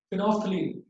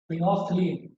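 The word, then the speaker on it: phenolphthalein: तीसरा इंडिकेटर है हमारा फिनोफ्थलीन। बोलते हैं फिनोफ्थलीन, लिखा जाता है फिनोल्फ्थलीन। एल साइलेंट होता है इसमें, ये वाला एल, फिनोफ्थलीन।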